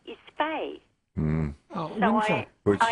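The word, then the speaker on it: Fahey: And my surname, believe it or not, is Fay. Mm. Oh, So Which- I am Fay. Which is normally a Christian name, yeah. Yes, well, it's F-A-H-E-Y, which is Irish.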